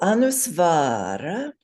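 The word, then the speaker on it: anusvāra: So Anusvara, notice the long A, only one of them is long. Any other long letters in that word? Any of those secret ones like A's or O's or I's or Ows? No, just one A Yeah, along. just one long A.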